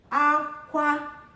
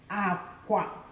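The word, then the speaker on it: akwa: So the first one is aqua, hi, hi, aqua. Aqua means cry. Now look at the lo, lo. Same word. This one will sound aqua, which means bed.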